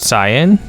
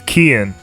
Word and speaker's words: Cian: We've been pronouncing his name wrong. Is it Cyan? It's Kian. No, Kian.